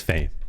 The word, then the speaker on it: Fame: heard of him before his name it rhymes with James that's right you guessed it it's Fame he's a rifler who